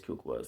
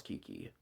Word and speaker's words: Kukua: name too much, but it is Kukua, so yeah, which is really weird way to actually pronounce Kiki. But yeah, I'm going to call her Kukua, and I think everybody else should actually call her Kukua instead of Kiki, but yeah.